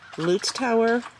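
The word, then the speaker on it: Leutschauer: This is it's pronounced Lutz Tower.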